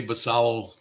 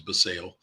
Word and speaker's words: Basallo: This is the 2023 Bowman Chrome First Prospect Auto of Samuel Basallo, or Basallo, depends on who you talk to. I say Basallo. I think correct pronunciation is Basallo.